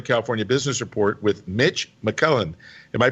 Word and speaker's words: McClellan: yes you're right there mcclellan just like the air force base or the general or yeah very nice